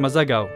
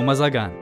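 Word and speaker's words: Mazagão: في أول مكان انطلقت منه قصة مازاغاو أو مازاغان كما ينطقها معظم الناس.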